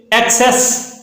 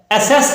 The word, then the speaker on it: access: दूसरे नंबर पे एक्सेस, ACCESS, एक्सेस, इसको अमूमी तौर पर गलत पढ़ा जाता है, एसेस करके पढ़ा जाता है। एसेस पढ़ना बिल्कुल गलत है, चूंकि ACCESS जिसका मतलब है रसाई हासिल करना, किसी चीज तक पहुंच हासिल करना, इसको हम एक्सेस पढ़ेंगे और एक्सेस इसकी सही प्रोनाउंसिएशन है।